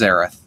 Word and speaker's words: Aerith: tell us all the time that it was aerith and that we were saying it wrong um